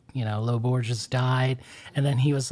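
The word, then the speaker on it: Lô Borges: Lo Borges.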